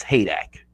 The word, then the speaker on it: Heydecke: is h-e-y d-e-c-k-e so it's like hey like a bill i built a deck e so but you pronounce this hay dak oh okay hey doc okay sorry i've been